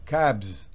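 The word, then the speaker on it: calves: muy las vacas mugens la l no se pronuncia caps Ball los terneros mugen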